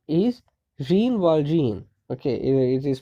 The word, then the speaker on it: Jean Valjean: happens he says see here my name is jean valjean okay it is pronounced as a though it is written as jean valjean it is supposed to be pronounced pronounced as sean waltron okay not re-involved in john wall john okay